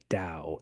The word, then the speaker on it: Tao: So the correct pronunciation of the tiny Chinese word is dao as in down, not to as in towel.